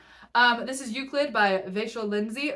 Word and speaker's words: Vachel: this is uid by Vel Lindsay Vel is spelled like Rachel with a V and it is pronounced like a vampire trying to pronounce the name Rachel you get that one